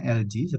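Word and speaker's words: algae: Jadi bacanya LG seperti merek elektronik AC atau kulkas itu LG.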